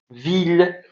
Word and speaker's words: ville: Et parfois, ça prononce comme il. D'accord? Oui. Alors, il, comme par exemple, ville, ou bien village.